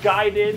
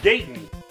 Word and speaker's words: Gaiden: the day remember the first day you learned that it was pronounced guided and it just kind